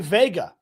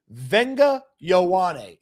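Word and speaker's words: Vega Ioane: And you'll say, "Well, Cody, that looks like Vega." Yes, it does look like Vega, but it's Venga Ione. Venga Yeah. Venga Iouane. Okay, let me get it right here. Venga Iouane is how you say his name.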